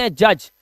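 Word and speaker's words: hedge: और इसको जी से पहले आया डी है। तो यह हमारा साइलेंट है।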